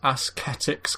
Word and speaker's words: ascetics: How do you pronounce this? Ascetics cat?